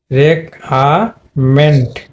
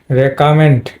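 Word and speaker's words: recommend: তাহলে শর্ট এ হবে তাহলে এই যে দেখো রে রে রেকমেন্ট তার মানে রেকামেন্ট রেকামেন্ট এটা কিন্তু কারেক্ট প্রোনাউন্সিয়েশন হবে রেকামেন্ট রেকামেন্ট তো আরেকটা ওয়ার্ড দেখো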